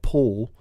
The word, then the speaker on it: Porl: off of Paul and if you say it like I say it like poll that basically is poor 'el but this clearly interviews